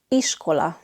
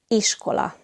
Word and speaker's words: iskola: Iskola. The letter I in Hungarian is always pronounced I, like in the English words in or thin. And the letter S in Hungarian is pronounced sh, like in shower.